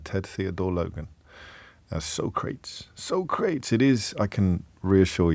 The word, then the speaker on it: Socrates: One of the finest films ever made, in which Socrates is has his name hilariously mispronounced by Bill S. Preston. Bill S. Preston Esquire and Ted Theodore Logan as Socrates. Socrates, it is, I can reassure you, without the